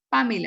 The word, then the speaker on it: Pamela: Tú le pones acento en la, ¿cierto? En la primera. Pamela. Pamela.